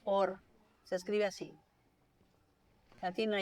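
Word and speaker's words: אור: Luz en hebreo se dice or.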